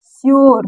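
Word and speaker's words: sure: यू आर ई इसको क्या पढ़ रहे हैं शर तो यू के बाद आर आया तो इस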